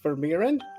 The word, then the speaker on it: Vermeeren: My name is Richard, and I have a guest today, Douglas Vermeeren. Did I pronounce that correctly?